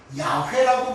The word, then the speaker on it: 야훼: 그렇다면 어떤 분들은 그 여호와는 잘못된 거니까 야훼라고 불러야 된다라는 분이 있는데, 그럼 야훼는 정확한가? 아니, 유대인도 모르는 발음을 어떻게 우리가 야훼는 정확하다고 합니까?